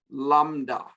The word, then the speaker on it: lambda: It is, but the B doesn't, you don't pronounce it very, very loudly.